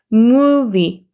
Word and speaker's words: movie: 해서 너라고 읽어주시면 되고 얘는 무하고 길게 읽어요. 그리고 우에 강세 있기 때문에 movie 하고 여기도 V 발음이 있기 때문에 아랫입술에 윗니를 물고 진동 떨리는 소리로 V 이렇게 됩니다. 그래서 movie 이렇게 되죠.